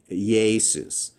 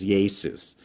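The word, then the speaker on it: Ἰησοῦς: Jesus. You have that E, A, then sus, and you have to pronounce it really fast as Jesus.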